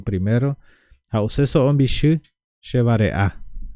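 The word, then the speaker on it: vareʼa: Y les quiero repetir uno a uno para que puedan así fijarse más en la pronuncia. La primera es fácil. Hambre. Hambre decimos vare-a. Vare-a.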